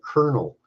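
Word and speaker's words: colonel: people start talking about words like kernel and you don't spell it with a K but with a Col arise but didn't you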